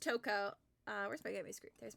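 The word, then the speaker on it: Toko: it's Toco I loved it it's uh it's pronounced Toco uh where's my baby there's my gaming uh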